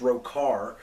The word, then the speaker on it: Rhochar: I went with, and it's pronounced Rokar, and I spelled it Rhochar, and that's the name that is on this.